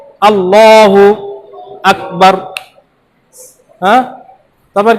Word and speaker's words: আল্লাহ: দ্বিতীয় লামের আগের অক্ষরে যদি জবর বা পেশ থাকে তাহলে আমাদের মোটা করে পড়তে হবে।